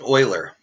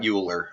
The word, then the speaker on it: Euler: I do uh project Oiler it's pronounced Oiler not uler and I learned that